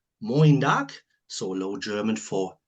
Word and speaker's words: moin: Is that how you pronounce it? And why is this the greeting in Bremen? Is it dialect for Morgan? Yeah, your pronunciation was right. We say moin, and the origin of